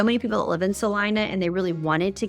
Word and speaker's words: Celina: of I don't know why they pronounce it Salina when it's obviously spelled Selena but we're just going to go with it and we're going to say Salina because that's how they